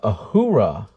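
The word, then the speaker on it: Uhura: this package up and ready to go uh ahura that's how you pronounce it um but yeah I am a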